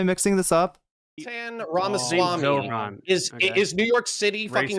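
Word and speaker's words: Zohran: I feel like the Connor Points probably knows that it's Zoran.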